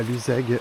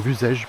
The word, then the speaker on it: Luzège: Voilà, la Luzègue devant nous, ou Luzège plutôt.